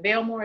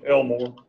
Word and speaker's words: Elmore: But to go back, is it Belmore? Is that how you pronounce it? It's Elmore.